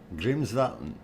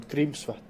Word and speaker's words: Grímsvötn: pronounce it, and I was listening to the pronunciations here from Grimsvatn. Grimsvatn is what it is, according to what they're saying on this one. Grímsvötn.